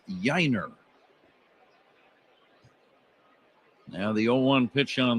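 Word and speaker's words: Yainer: He spells his first name Y Ai Ner, but he pronounces it Yiner.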